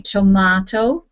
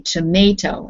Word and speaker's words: tomato: like tomato yeah yeah some english speakers say tomato and potato it is very british but in most of uh us and canada we say tomato and potato both are correct okay this next word